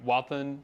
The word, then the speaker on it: Wathan: Adam Wathan, is that how you say his name?